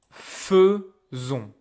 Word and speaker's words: faisons: It should be pronounced fait, but now we will pronounce it as feu. Nous faisons.